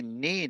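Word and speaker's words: niin: Neen is myself.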